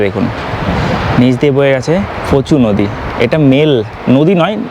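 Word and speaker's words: Pho Chhu: এটা পুনা খাতে অবস্থিত ফুচু নদীর উপর বা ফুচু যেটা বলছিলাম একচুয়ালি উচ্চারণ হচ্ছে পি ও সি এইচ এইচ ইউ পচু বা ফুচু এনারা ফুচু উচ্চারণ করছেন।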